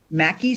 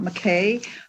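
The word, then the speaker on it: Mackay: I, like Assemblywoman Anderson, was also proud of the Mackey School of Mines, just so you know how it's pronounced, not McKay, just as we don't say Nevada and we say Nevada.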